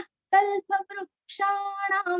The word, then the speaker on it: कल्पवृक्षाणां: क्ष का उच्चार करते समय बहुत ध्यान देना है। क्या होता है, वृषा श बहुत ज्यादा जल्दी हमारे मुंह में आता है, इसलिए वृक्षाणां, वृक्षाणां।